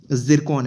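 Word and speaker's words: Zircon: आपको नाम में TASI दिख रहा होगा, बट इसका जो प्रोनाउंसिएशन है वो जिरकॉन है। ठीक है, इसको जो प्रोनाउंस करेंगे वो हम ज़िरकॉन की तरह करेंगे।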